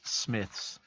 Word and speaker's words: Smiths: a lot of the toys of oh it's pronounced Smiths is it spelled SM SM y THS Smiths